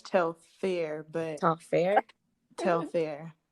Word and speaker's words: Telfar: are saying tell flock i thought it was tell flynn tough flaw it's very much tell fair but talk fair tell